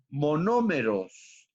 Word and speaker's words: monómeros: existen los que llamamos mono monómeros acento en la segunda o monómeros después y entonces de